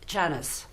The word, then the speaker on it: Janice: It's quite mean-spirited, if you want, because that's not how you pronounce my name. My name is Janice. In French, it's Janice. In Italiano, it's Janitza. With a Texan drawl, it's Janice, not Janice. He's getting the syllable Jan-ass.